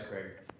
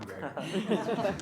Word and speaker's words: Greg: Said my dad's Craig. I'm Greg. Craig and Greg. Gregory. Yes. Just try Cregory and you'll know it's wrong.